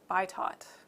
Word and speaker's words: Bitot: So it is betote spots, beto spots, bitot. I know everybody probably pronounces it differently. I call it betote.